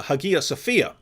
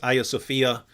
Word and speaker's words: Hagia Sophia: a video on uh hagia sophia um that's that that would be the original greek pronunciation um in turkish now i think it's aya sophia and so this was